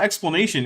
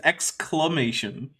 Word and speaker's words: exclamation: It's not explanation, it's exclamation.